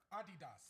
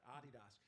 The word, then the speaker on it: Adidas: you know you know how you say this in Europe Adidas that's right Adidas I played basketball in Europe and I thought people didn't know how to say it before I realized